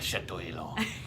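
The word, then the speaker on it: Château Élan: You have to say it like you're French. Like you're French. It's Chateau Elan.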